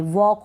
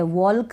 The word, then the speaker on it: walk: वॉक होगा। अब यहाँ पर L जो है साइलेंट है, वॉल्क नहीं पढ़ेंगे, वॉक पढ़ेंगे।